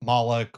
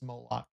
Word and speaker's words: Moloch: There was an ancient god, false god, mentioned in the Old Testament multiple times called Moloch. Some people call him Molech or um or Molek, but the general pronunciation is Moloch.